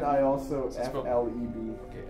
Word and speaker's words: Fleb: As it's spelled. And then I also Is it spelled- FLEB.